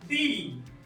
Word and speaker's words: dix: तो x pronounce नहीं होगा, जैसे कि मैंने पहले ही बताया, इसको बोलेंगे हम दी।